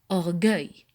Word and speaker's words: orgueil: Donc, j'écris U-E-I pour avoir le son G. Alors, je prononce orgueil.